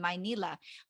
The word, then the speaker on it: Manila: I it's funny because I still hear my mom pronounce Manila like that sometimes when she's talking to family back home she'll say my Nila and and instead of Manila but she says now